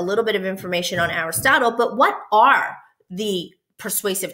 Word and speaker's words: Aristotle: you is this man philosopher his name is Aristotle that's how you would pronounce that and he was a Greek philosopher